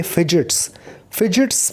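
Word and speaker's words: fidgets: एंड स्मॉदर, that स्मॉदर का मतलब गला घोंटना, ख़त्म करना, और इसे ख़त्म करनी पड़ेगी अपनी ये फिजिट्स में D इज़ साइलेंट।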